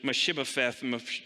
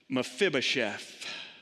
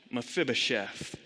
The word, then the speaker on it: Mephibosheth: a tough name and it's so easy to pronounce it mashiba from and all sorts of other things isn't it mephibosheth mephibosheth mephibosheth was introduced a couple of chapters earlier